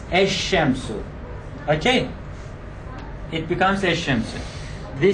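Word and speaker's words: الشمس: Look, the lam in the Arabic word the sun, which is ash-shams, assimilates. It is written as al-shamsu. Look, lam is here in writing, but in pronunciation, articulation, it assimilates. It becomes ash-shamsu.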